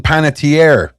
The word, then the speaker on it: Panettiere: I'm saying her name's Hayden Panettiere. I was just... Okay. All right. Okay. So you kept correcting me for saying it right.